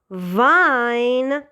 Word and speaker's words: Wein: you have this word, it is called Wien because you have IE, but this word is pronounced as Wein because you have E first and then I, followed by I.